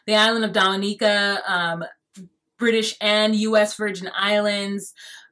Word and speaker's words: Dominica: My prayers are still over there for the island of, I call it Dominica, but that's not how you say it. It's Dominica. Yeah, the island of Dominica, British and US Virgin Islands.